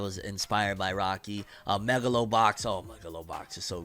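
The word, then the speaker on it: Megalobox: know because even why he called it moglow box it's Megalo box maybe it I don't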